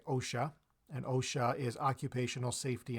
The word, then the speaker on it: OSHA: Canada most European countries Osia so we don't say oh Sh a we say OSHA and OSHA is Occupational